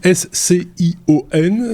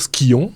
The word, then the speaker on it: Scion: Alors, ça s'écrit S-C-I-O-N. C'est un sujet suisse. Et comme disait Sébastien en off, on aurait pu dire Skion, parce que ça aurait du sens aussi. Mais non, c'est Scion.